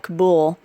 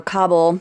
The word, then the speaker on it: Kabul: These folks, there's about 60,000 people inside the airport at Kabul, or Kabul, however you want to pronounce that.